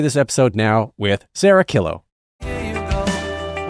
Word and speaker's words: Killough: But the proper pronunciation of your last name, of course, Killough, Scottish. Killough, technically, yeah.